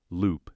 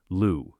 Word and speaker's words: loup: "Loup," she says. The pronunciation is terrible, but recognizable. "Close. Lou, the P is silent. Lou, better."